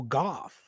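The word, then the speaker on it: Gauff: is how do y'all feel about um Coco goth is that how you say her name golf Coco goth yep go ahead congratulations congratulations Coco yep yeah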